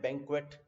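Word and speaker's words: banquet: ठीक है, वो बात अलग है कि बैंक्वे जो होता है, बैंक्वेट, उसमें टी बोला जाता है, बट anyway that is a different thing, I will discuss in other class, other slide some time.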